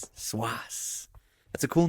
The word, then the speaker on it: Cwass: Swas. Swas.